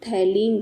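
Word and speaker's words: phthalein: next test इसके अंदर आपका जो फ होता है ना साइलेंट होता है आप इसको क्या बोलते हो थैलीन डायट टेस्ट सो इस टेस्ट के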